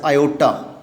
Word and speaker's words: iota: Here I want to tell you students, this I that is pronounced as iota.